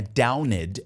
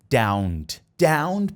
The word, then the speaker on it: downed: Lines and blocked roads esse Down que você também não vai pronunciar com esse e d prolongado não é downed é down down Power Lines as Power